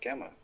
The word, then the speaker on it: Gemma: It's Gemma.